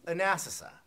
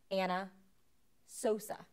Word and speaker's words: Anna Sosa: consideration this is anasa am I saying that right no no you're not oh I kind of tend to get things backwards uh assasa no that um you're not pronouncing that right still it's Anna Sosa Anna Sosa yes do